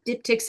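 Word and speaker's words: diptych: at a wedding yeah I'm pronouncing that right please tell me right dip tick oh yeah yeah that's right I always like to say di dipstick dipstick um I've heard it said dip dip Tish dip TSH I'm like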